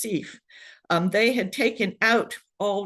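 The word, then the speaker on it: CEPH: The acronym is pronounced CEF.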